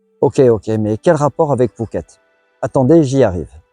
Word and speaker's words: Phuket: Et son nom actuel est la prononciation thaï d'un mot malais, du mot Bukit qui signifie colline, montagne.